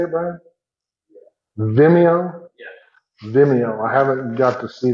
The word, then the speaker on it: Vimeo: Vimeo.